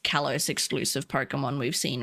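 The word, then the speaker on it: Kalos: Instead of callos, they call it Carlos. like Carlos.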